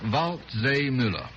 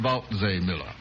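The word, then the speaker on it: Waldseemüller: martin vault zay miller martin vault zay miller hard one by golly i think he got himself uh christopher columbus is very easy now the other name about miller is spelled w-a-l-d oh i know all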